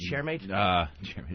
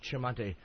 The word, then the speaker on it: Tremonti: Is it Chairmate? Tremonti. Tremonti. Fucking hooked this whole thing up.